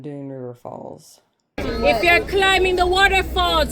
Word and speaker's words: Dunn's River Falls: We learned that the S is silent in Dunn River Falls.